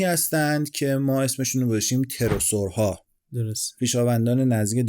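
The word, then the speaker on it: pterosaur: گاهی اوقات من می‌بینم به غلط اسم این‌ها رو پتروسور تلفظ می‌کنن. این تلفظش در واقع تروسوره. این پی اولش تو انگلیسی تلفظ نمیشه. آره پی تلفظ نمیشه.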